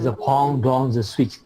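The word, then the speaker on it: je pense donc je suis: Tulisannya J pense doce J sweet. Bacanya the pong dong the sweet.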